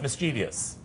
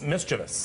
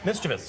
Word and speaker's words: mischievous: I think you're correct I went mischievious and I'm correct and yes mischievous mischievous mischievous and people actually misspelled it because they mispronounced it that's another genius and that changes the number of syllables - yes it does mischievous only three syllables but is it one